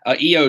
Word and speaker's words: Io: Io Shirai, Io just like Ronnie James Dio, and Sherry ending in I.